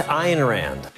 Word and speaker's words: Ayn Rand: a Rand IR Rands I'm told it's iron Rand H Rand became famous